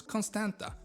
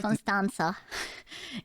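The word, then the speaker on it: Constanța: was good of course Constanta which sits right Constanta it in it is still have the te have a little thing underneath which makes it a two instead of a t next to the Black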